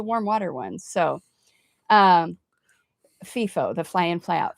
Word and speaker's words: FIFO: But that's a it's a warm water one, so um FIFO, the fly in fly out FIFOs.